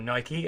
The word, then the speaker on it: Nike: So I really enjoyed Phil Knight, the founder of Nike, or Nike, as I now know it's properly pronounced via the book, which really upset me as an English person.